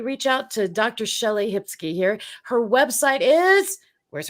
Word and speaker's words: Hipsky: find her absolutely and it's spelled hip sky phonetically so nice skye okay my